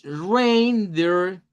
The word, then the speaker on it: reindeer: Rain, hasta la N es la primera sílaba y suena igual que la palabra lluvia. Rain, escrita con AI y escrita con EI, tiene el mismo sonido. Pero luego aquí dice deer. Deer. Esa doble E suena como I.